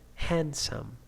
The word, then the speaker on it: handsome: And the another sounds, the voiced sounds now, they in some situations they have some silent sounds too. Plumber, climb, dat, bomb, B, and now D. Wednesday, handsome, handsome, sign, design, campaign, okay, in G sound.